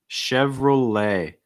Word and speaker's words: Chevrolet: your mouth chevrolet chevrolet t is not pronounced okay chevrolet relay holding that a sound at the end don't release it too soon killed your mouth wide ay chevrolet after that disney disney